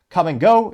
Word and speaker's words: Kum & Go: bit we can see what used to be the iconic come and go logo and it is spelled KU M and go and the bottom